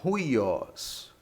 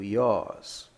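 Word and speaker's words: υἱός: iOS que significa filho alguns gramáticos pronunciam como Rios Rios errado não Como já disse mas aqui vamos respeitar os acentos então será o iOS prosseguindo adiante a letrinha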